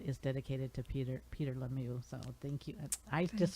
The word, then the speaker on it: Lemieux: you said it right i'm thinking the way you taught me to say it was pepe the pew that's right i'm sorry